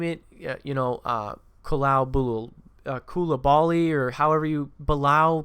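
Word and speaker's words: Coulibaly: I mean, you name it, Koulibaly, or however you, Bilal Koulibaly, that's how you pronounce his name.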